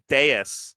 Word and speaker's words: Deus: Deus is a word in the dictionary. There's no alternative pronunciation. Deus.